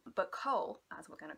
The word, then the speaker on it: Chaol: The character of Cole, that's how I'm pronouncing his name. I've heard lots of people call him Kale.